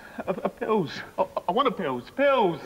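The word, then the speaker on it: Anusol: I want a pills. Pills. Wrong, wrong, wrong. A pills, please. What? I don't know what you want me to say. Two syllables rhymes with Dalston.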